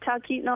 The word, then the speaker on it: Talkeetna: Yeah, you said it right, Talkeetna, Alaska.